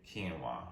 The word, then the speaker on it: quinoa: It's spelled one way, but I guess you say it quinoa, right?